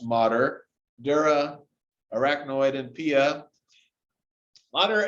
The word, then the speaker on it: mater: the same way with the it looks like mater like in the movie cars but that's actually pronounced modder dura arachnoid and pia mater is actually a